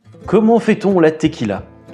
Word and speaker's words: tequila: Comment fait-on la tequila ? Et bien, je vous explique ça tout de suite. Tout d'abord, la Tequila se prononce elle tequila en espagnol et vient de la ville de Tequila dans l'état de Ralisco.